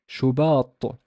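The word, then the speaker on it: شباط: It's shu, shu, and the ba here has no vowel because it's an alif, so it's a long vowel. It's shuba, shuba, shubat, shubat, shubat.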